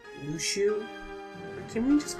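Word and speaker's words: Luxu: A page is missing, and they're trying to find the traitor, showing us the Master of Mashers, and I know his name is pronounced Lushu, but can we just call him Alexu?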